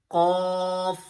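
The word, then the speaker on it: ق: Qaf, qaf.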